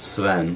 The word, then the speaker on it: Sveen: Sveen or It's close. It's Sven. Sven? Okay. It's as if it only has one E.